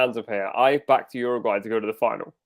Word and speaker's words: Uruguay: It's Uruguay. Ooh, Uruguay. I thought that's what it was, bro. yeah, These I guys think are you're talking about saying it right. you're a gay.